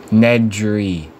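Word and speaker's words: Nedry: 1993 film Jurassic Park you pronounce every letter in his last name Ned dree it's a a delosa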